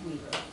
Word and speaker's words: Weber: him there's Weber only only in Utah it's pronounced Weaver okay they spell it